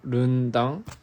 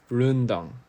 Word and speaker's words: Rendang: Rendang is pronounced Rundang. Rundang.